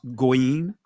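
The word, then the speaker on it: goyim: GWayam in the Israeli tongue is pronounced goim.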